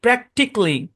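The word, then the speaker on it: practically: বেসিকলি logic লজিক্যালি না লজিকলি প্র্যাক্টিকলি স্পেসিফিকলি অটোমেটিকলি বুঝছেন এটা সাইলেন্ট এবং উচ্চারণটা সিতে গিয়ে থামবে।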